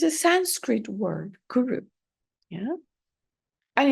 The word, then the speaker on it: guru: it's a Sanskrit word guru yeah and it has two syllables Guru yeah we hear all